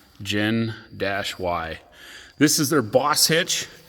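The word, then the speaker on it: Gen-Y: called Gen Y it's some people call him Genie but it's actually pronounced gin Dash y this is their boss hitch it's the 10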